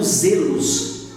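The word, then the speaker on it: ζῆλος: aquela aquela dor produzida no Grego é pronunciado como Zelos é usado aqui na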